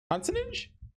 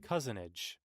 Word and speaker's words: cousinage: Consonage? I assume that means like scam or like, you know, fall on a fast one. The practice of deception, trickery. Cousinage.